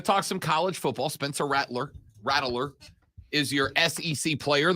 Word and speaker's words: Rattler: Yeah, so some people need to say his name right. It's Rattler.